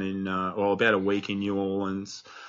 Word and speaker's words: New Orleans: I always say New Orleans. I know everyone says New Orleans in Australia, but like when you're over there, you're sort of supposed to say New Orleans. Yeah. Because that's how they say it.